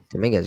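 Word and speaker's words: Domínguez: Dominguez, yep.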